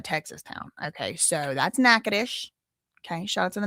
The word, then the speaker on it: Natchitoches: It's Natchitoches. It is not Natchitoches. No, it is not. But that's not to be confused with Nacogdoches, which is a Texas town. Okay, so that's Natchitoches.